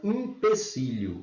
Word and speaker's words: empecilho: alternativa B na palavra empecilho. Ó, a gente pronuncia esse em, é um E. Na verdade aqui, ó, o erro não é com I, é com E.